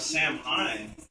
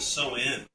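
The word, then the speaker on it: Samhain: instead of Sam Hine, they pronounce it So-In.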